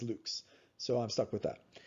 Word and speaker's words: lux: 139 lx lux now a lot of physicists pronounce this lux it's lux it's the latin word for light and there's also another unit that they sometimes use called candles so you can see where these come from uh but i just can't say lux because i i studied latin and the proper way to pronounce it is luke's so i'm stuck with